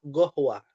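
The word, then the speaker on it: قهوة: Qof diganti dengan go ya. Ya. Jadi go qohwa gohwa. Qoh artinya kopi ya. Qohwatun. Orang Arab Yaman menyebutnya gohwa karena sudah ee bahasa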